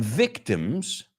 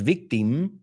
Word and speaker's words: victim: So an open-minded Jewish waiter, un camarero judío de mente abierta, and his son become victims. No es victim, it's victim. He's a victim. O sea, no es im.